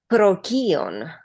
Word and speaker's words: Procyon: And the second thing I wanted to say if you allow me or if you want to hear the pronunciation of this star is proon pro proon proon.